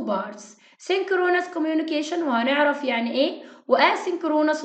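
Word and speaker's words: synchronous: انترنت كوميونيكيشن او التواصل عن طريق الانترنت هقسمه لجزئين، 2 بارتس، سينكرونس كوميونيكيشن وهنعرف يعني ايه، واسينكرونس وبرضه هنعرف يعني ايه. بس الاول انطقها معايا، قسمها معايا يلا. سينكرونس، سينك رو ناس، سينكرونس كوميونيكيشن، سينكرونس كوميونيكيشن، اسينكرونس، اسينكرونس، اسينكرونس كوميونيكيشن.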